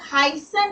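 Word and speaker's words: heißen: इसमें करेंगे प्रोनाउंसिएशन अगर हसन होगा हसन करके एक वर्ब है टू be called to be called तो हसन में इ आई है तो उसको आय बोलेंगे हसन समझ में आया पोर्तुगीज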